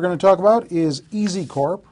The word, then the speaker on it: EZCORP: one that we're going to talk about is easy Corp right that's how it's pronounced correct easy PW the ticker symbol on